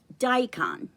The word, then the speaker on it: daikon: Today I'm going to be preparing a daikon. That's how you pronounce it.